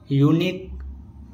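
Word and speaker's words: unique: जब किसी वर्ड के लास्ट में क्यू यू ई लेटर एक साथ आता है तो क्यू यू ई में क्यू का उच्चारण हम का से करते हैं। जैसे यूनिक, ऑब्लिक, मॉस्क, फिजिक।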